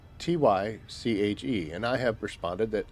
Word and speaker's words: Tyche: So, I believe that if I'm going to pronounce it, the proper way would be to speak as though I was a Greek. The Greek pronunciation. Which is Tyche.